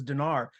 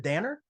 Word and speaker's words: Dannar: I did um uh I pronounce it both ways and so I will not discriminate anybody who does it okay because either way uh Dinars you know more powerful when you're feeling authoritative daner's when you're just it's part of a middle of a sentence not that important so that's that's all